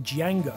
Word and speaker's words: Django: Colgrove is said to have used the handle Django to try to acquire 10 kilos of MDMA and 5 kilos of coke through Threema.